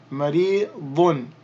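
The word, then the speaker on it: مريض: And then we have a dad with the dhammatan, dun, maridun, maridun, maridun. And then we're going to drop the dhammatan, so we would simply say marid.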